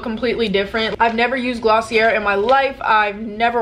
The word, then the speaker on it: Glossier: doing a full face a full face of glossy air I'm very aware that it's pronounced glossy a it just wasn't clicking with